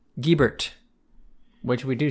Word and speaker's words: Gibert: Which is silly, but like the way that we're pronouncing it is the Americanized version of a French name. And the answer is that we are pronouncing it Gibert.